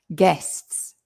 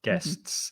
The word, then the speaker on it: guests: getting them all uh guests guests be careful of the pronunciation again there's two vowels in there but it's it's it's a it's an s sound the u is silent so just think guests no you just guests